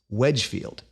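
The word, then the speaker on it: Wednesfield: which looks like when's field but is actually pronounced Wedgefield what appears to be going on here is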